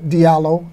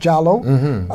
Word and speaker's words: Diallo: the Souls, the Jallos, you say the Diallo, like Amadou Diallo, the Souls, but it's pronounced Jallo, the Barrys, and the Ba.